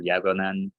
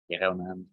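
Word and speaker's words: γέγονεν: But this first gamma, a gamma before an eh or an e sound, sounds like a y, kind of like a G-ish y sound, and it's more like a G, plain G sound when it's before an O or an A. So you'll hear yagonen, yagonen, that which was.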